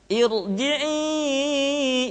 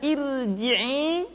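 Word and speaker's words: ارجعي: Dan yang terakhir, ra sukun dipastikan dibaca dengan tafkhim manakala didahului oleh hamzah wasal. Contoh, irji'i ila rabbik. Tidak dibaca irji'i, akan tetapi irji'i ila rabbik.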